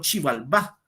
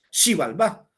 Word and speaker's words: Xibalbá: el mundo maya como Xibalbá. Se escribe con X, la X suena sh, no che, sino sh, suena Xibalbá.